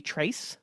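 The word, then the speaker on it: Tracye: uh this book Tracy I'm pretty sure you pronounced her name Tracy it's t-r-a-c-y-e so it could also be Trace no I believe it's Tracy it's Tracy yes she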